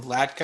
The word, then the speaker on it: Latka: I'm reading a book right now by Nathan Latka, I believe is how it's pronounced, and he's telling people